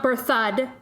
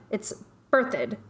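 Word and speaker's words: Berthoud: birthed so it's not birth thud it's birthed emphasis on the first syllable that's mike rinkoff from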